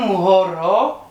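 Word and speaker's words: mhoro: But anyway, so an M and an H together, you go horo. Just an M and an H together. So it's M-H-O-R-O.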